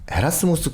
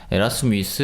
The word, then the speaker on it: 에라스무스: 스무스 를 볼 은 여기서 이제 에라스무스 라고 하는데 최근에는 에라 스미스 라는 이름이 발음으로는 더 맞는거 같아서 그분 데 그렇게 바꿔서 부르는 것 같긴 한데 일단 저한테